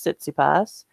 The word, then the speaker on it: Tsitsipas: Greek tennis player, Stefanos Tsitsipas. And when he pronounces his name, somehow he pronounces that T at the start of his last name.